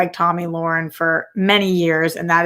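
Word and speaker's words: Tomi Lahren: guys think um murtaranta says t-a-m-i lauren like tammy lauren not tommy no it's pronounced tommy um it's just spelled like that tommy lauren is how she says it um unless i'm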